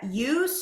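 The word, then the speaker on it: eustress: good the two types of stress are called UST stress and it's spelled EU stress so e s t r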